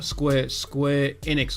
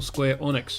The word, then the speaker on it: Square Enix: Square Enix, or Square Onyx, however you want to pronounce it. Some people pronounce it Square Enix, some people pronounce it Square Onyx.